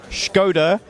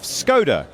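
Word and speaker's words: Škoda: making reviews as to whether i go with the traditional pronunciation of skoda or the english pronunciation of skoda and that's actually more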